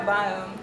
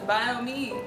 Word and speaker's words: Biome: The first time I saw Biome, I thought it was BIOME, because it's spelled BIOME, and it's about me. So I thought it was BIOME, and then someone was like, no, it's Biome.